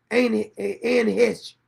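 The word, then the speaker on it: Anne Heche: Is that how you pronounce her name? Anne Hesh. Hesh.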